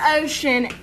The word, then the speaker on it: ocean: In the word ocean, CE sounds like sh, and the word about, the OU sounds like ow, OW, and colonel, OLO, sounds like ER, colonel.